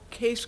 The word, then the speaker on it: Kees: that as mentioned it's my name is spelled funny but it's just pronounced case that's the Dutch spelling I blame my parents